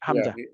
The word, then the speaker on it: Hamza: Al Hamza I have to I have to pronounce it Hamza actually it comes with the fata Hamza in